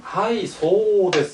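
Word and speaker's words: はいそう: 말은 예 그렇습니다 한데 여기서 소는 뒤에 우 우리가 그 발음 공부를 할 때 어 그 우자가 장 앞말에 장입니다 그러니까 앞에는 소라고 돼 있으니까 이것을 길게 발해라 그래서 소하고 장음 이렇게 해라 이런 얘기입니다 이렇게 해서 하이소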